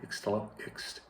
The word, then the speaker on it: Ixtlahuacan: tongue twister name of Ixtlahuacan. Ixtlahuacan. My wife always reminds me to put the accent on the A and C at the end, C-A-N, de los Membrillos.